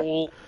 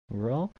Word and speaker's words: Raul: That's not how you say it. It's Roel. Roe. Rule? Roel? Rowell. Rowell. Okay, thank you.